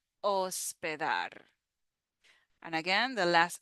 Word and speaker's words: hospedar: Next word that we have is hospedar. Hospedar. So we have the O sound in the first syllable. O. In Spanish, the letter H is silent. We don't pronounce the H in Spanish. Hospedar.